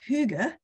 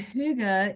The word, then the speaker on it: hygge: to say the word because it's hard to pronounce okay so the Danish word is hygge and hyuga is a Scandinavian concept again it's part of